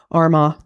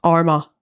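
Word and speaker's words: Armagh: Apart from Arma. Oh, Arma. It's the gh.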